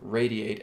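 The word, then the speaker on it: RAYD8: So I'm going to be talking a lot more about the brand new Radiate app that is coming. That's spelled R-A-Y-D-8.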